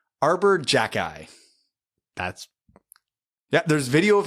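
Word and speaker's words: Xhejaj: his first name is arbor his last name is spelled x h e j a h z arbor jackey that's yeah there's video of him saying it that's correct arbor jackeye that's metal bryce s who's a new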